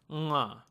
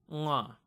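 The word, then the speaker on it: ङ: It's pronounced as nga, nga.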